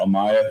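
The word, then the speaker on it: Ommaya: And for example, I and I'm not sure I can pronounce his name. Ayub? Ayub Oh, Maya. Amaya?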